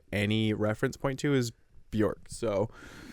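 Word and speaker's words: Björk: reference point to is bork so bork is that no you said it right I just Bor bork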